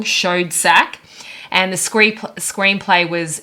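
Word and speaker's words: Schoedsack: marin c cooper and ernest b pardon the pronunciation if i get it wrong showed sack and the scrape screenplay was james uh ashmore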